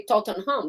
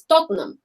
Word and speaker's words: Tottenham: are small yeah like tottenham a normal person foreign would say tottenham but it's tottenham yeah that's how they say tottenham uh i don't